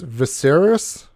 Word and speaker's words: Viserys: I think I'm gonna get his name wrong. It's Viserys.